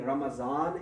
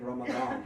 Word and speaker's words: Ramadan: But yes, it should be pronounced somewhere between Ramazan and Ramadan.